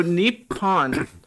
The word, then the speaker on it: Nippon: So are there 2 P's in it that they don't pronounce, or is it misspelled? No, so Nippon is what some Westerners call it. Anglicized? If you're in Japan and you want to refer to Japan in Japanese, it is Nihon.